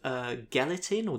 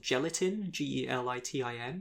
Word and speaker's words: Gelitin: Rabbit was by the Australian art collective Gelatin, Gelitin. And apparently Rabbit is also referred to as Haze, but it's spelled Hase, and I have no idea what that means.